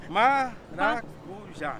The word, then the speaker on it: maracujá: Well, the accent on the last day. Paracuja. No, paracuja. Paracuja. Paracuja. Paracuja. Paracuja. Paracuja. Maracuja.